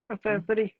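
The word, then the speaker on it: accessory: बाद में ध्यान रखिए, 3 करेक्टर अगर आते हैं ई आई वाई तो इसका उच्चारण सा होगा, अदरवाइज इसका उच्चारण क्या होगा? का होगा। अब मैं आपको देखिए यहीं पे लिख रहा हूं एक और letter, A double C E double S ओ आर वाई, इसको क्या कहेंगे? एक्सेसरी।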